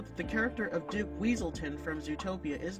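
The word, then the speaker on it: Weselton: a running gag of characters mispronouncing the province where the duke is from calling it either weaselton or weaseltown duke weaselton in zootopia continues the reference with judy hopps calling him wesleton instead of weaselton and duke immediately corrects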